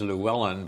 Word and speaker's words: Llewellyn: My middle name is Welsh, and it's been anglicized as Llewellyn, but I can't pronounce it in Welsh because it has a sound that we don't have in English, so I can't say the double L Welsh sound.